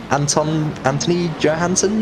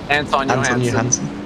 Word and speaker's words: Johansson: So we've only got 3 drivers without penalties, that being Jake Ansel, and Anthony Johansson, you say? Anton Johansson.